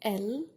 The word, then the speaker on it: elle: a bunch of girls, you would say elle, okay, without pronouncing the S. You don't pronounce it in il or elle at all.